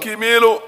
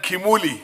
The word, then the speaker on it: Kimu: Honorable Kimu, you remember last time when I mispronounced your name, Kimi, and it became something very Thank you.